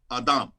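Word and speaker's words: אדם: in genesis is adam it's literally pronounced adam in hebrew when you say human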